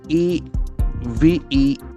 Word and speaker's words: event: Then comes a very important word E-V-E-N-T. It has got a slight shift in its pronunciation. The second syllable is more important.